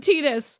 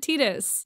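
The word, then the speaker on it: Tidus: said Zidane but yes then there's like Titus everyone said Titus unless you said I said tetus oh man that's so weird said tetus Japanese Japanese pronunciation they pronounced it tetus in in deia even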